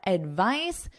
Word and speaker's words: advice: So notice the pronunciation difference. Advice, advise. Advice, advise. This is our noun and this is our verb.